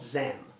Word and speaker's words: XEM: and by the way the tokens are called zam so name is new economy movement and xem is the token or the coin and it's spelled xcm okay there is a